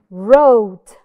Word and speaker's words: wrote: lot of practice Illinois wrote wrote so the missing letter is W wrote identified in silent